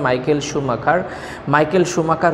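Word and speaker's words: Michael Schumacher: তাহলে মাইকেল শুমাখার ছিলেন হচ্ছে, এখানে উচ্চারণটা হবে মাইকেল শুমাখার হচ্ছে একজন জার্মান একজন রেসের গাড়ি চালক, যিনি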